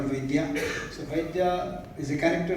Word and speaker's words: Vaidya: He doesn't like to be called Vaidyanathan or Vaidi. He wants to be called Vaidya.